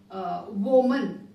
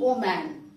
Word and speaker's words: woman: does this word becomes o man which is totally wrong it is not o man it is then similarly